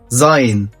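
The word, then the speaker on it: sein: أوضة زاين يعني يكون. شايف النطق عامل ازاي؟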